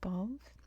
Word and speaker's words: Balvi: This is Balv, with that weird silent I at the end, I guess, emphasizing that last syllable.